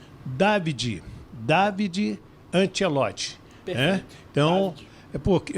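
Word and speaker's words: Davide: de Dad, é de David, então não é David, não é David, é Davi. Você bota um acento no A, né? O nome dele se escreve D A V I D E Antielot tem 35 anos.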